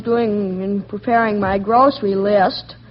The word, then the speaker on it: Liszt: Say, I'm going to the grocer to see how he's doing in preparing my grocery list. List, Of course, that's spelled L-I-S-T, and the composer is L-I-S-Z-T.